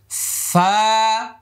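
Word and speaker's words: ف: করেছিলাম আলিফ মানে শেষে ফা ছিল ফা ফা এক এখানে পরিমাণ লম্বা ফা এভাবে বারবার বাতাসটা দাঁত এখানে লাগায়ে দেন ফা ঠোঁট লাগাইলে আর ফা হবে না হ্যাঁ এরকম করলে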